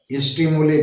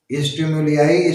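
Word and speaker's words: stimuli: स्टिमुलस, स्टिमुली बिल्कुल सही है। स्टिमुलियाई, स्टिमुली दोनों कहते हैं, दोनों प्रोनाउंसिएशन करेक्ट है।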